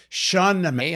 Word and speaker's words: Shahnameh: Shah means king. Shah. Nameh means book. Shah Nameh, the Book of Kings. Simple.